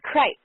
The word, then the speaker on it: Crites: Is it Kreitz or Kreitz, or how do we pronounce that? It's Kreitz, actually.